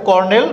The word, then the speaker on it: colonel: কর্নেল, কর্নেলের ক্ষেত্রে আমাদের বানানটা ভুল দিয়ে থাকে, আমরা উচ্চারণ করি CORNEL।